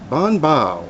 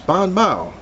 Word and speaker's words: BanBao: marketing strategy advertising uh the way you pronounce the name is Bon ba as in oh wow it's Bon ba so I just took